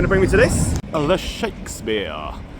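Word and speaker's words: Ye Shakespeare: The Shakespeare. Spelt Y-E, but I said I am reliably informed that it is how you say it.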